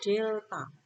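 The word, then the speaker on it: Δ: Rumusnya V sama dengan, ini bacanya segitiga ini delta.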